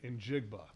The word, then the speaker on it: Njigba: It's very uncommon, but u I want to make sure I pronounce this name right. Injigba.